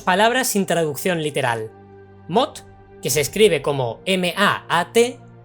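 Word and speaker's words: maat: Mot, que se escribe como M-A-A-T, es la palabra que define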